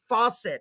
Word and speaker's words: Fawcett: me welcome Mr Fawcett and I did I it is literally pronounced like faucet right yes ma'am